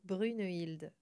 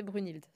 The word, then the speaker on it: Brunehilde: Parce que moi, je disais Brunhilde. Voilà, déjà. Ça t'allait pas. Il manquait un E.